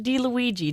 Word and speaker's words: DiLuigi: My next guest to Talk of the Town is Gene DiLuigi. Did I pronounce that right?